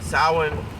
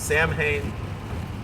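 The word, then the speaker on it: Samhain: celebrate with the wicked salwan or sowing which the way it's spelled people would think it's Sam Hayne um we cannot celebrate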